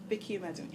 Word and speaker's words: Amedume: Vicki Amedume.